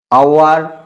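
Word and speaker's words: hour: তোমরা ভালো করে লক্ষ্য করো কি কি রয়েছে আওয়ার অনেস্ট হেয়ার তাই না এই ওয়ার্ডগুলো রয়েছে তো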